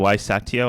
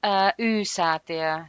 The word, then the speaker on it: Y-Säätiö: head of research at, I read it as Saitio. I'm sorry I didn't ask you before we hit record how to pronounce it.